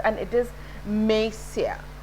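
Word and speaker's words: Monsieur: is not o n is not to be pronounced and it is mesia mesia and m m e is from madam extra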